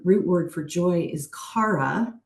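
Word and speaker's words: χαρά: word for joy is Cara spelled CH but pronounced like the CH in Charisma and joy shares its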